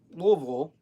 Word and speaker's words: Louisville: to Kentucky Brown puts the headquarters in Louisville as the locals say I was born here but I don't say I say Louisville but occasionally I'll joke